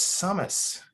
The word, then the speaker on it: Summus: like yeah he said well it's summus dummy he's like there i was like there i was you're into my company and i named it wrong but anyway i pronounced it wrong but we we stick